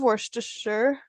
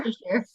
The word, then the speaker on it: Worcestershire: is He easier could than never, Worcestershire. yeah, he could never pronounce it, so he just calls it Westchester sauce.